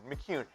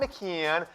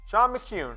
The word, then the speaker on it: McKeon: his name three separate ways Jim Harbaugh is pronounced incorrectly it's kyun McCune not McKeon not Miki in not McKeon Shawn McCune so Jim Branstetter the people will get paid